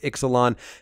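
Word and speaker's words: Ixalan: know it's called Exelon we know it's pronounced Exelon and that it's coming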